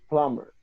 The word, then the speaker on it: plumber: there good question okay oh we do not pronounce it okay so we say plumber not plumber plumber okay plumber not lumber no